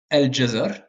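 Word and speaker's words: الجزر: vous avez d'autres lettres les lettres dites lunair qui ne s'assimile pas c'estàd que vous entendez bien comme article défini par exemple al jazar la carotte vous entendez bien le l c'est Al jazar alors bon dans certains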